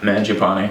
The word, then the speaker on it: Mangiapane: Yeah, Mangiapane.